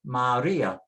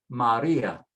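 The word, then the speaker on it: María: It tells you where to put the stress. Maria, Maria. If we didn't have the accent, it would be Maria, Maria.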